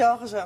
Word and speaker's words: Jorge: Moi j'ai dit Jorge, c'est pas bien. Non, c'est pas bien. Ça fait espagnol. C'est Georges.